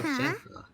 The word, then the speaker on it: Shenhe: Oh, Shenhe.